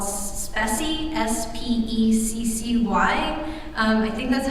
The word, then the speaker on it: Speccy: There's also a tool now called Speccy, S-P-E-C-C-Y. I think that's how it's pronounced.